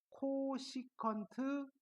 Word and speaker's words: 코시컨트: CS c x고 쓰시고 자이 친구를 뭐라고 읽으시면 되느냐면 코시컨트라고 읽으시면 됩니다습니까 얘는 코시컨트 아고 있는